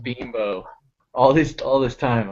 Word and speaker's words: Bimbo: like the union kids it's not bamboo oh it's a product okay not actual bimbos right no oh i think it's binbo that's how you get around oh bimbo i think that that that's pronounced binbo all these all this